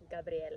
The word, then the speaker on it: Gabriella: It's Gabriella with one L because it's pronounced Gabriella.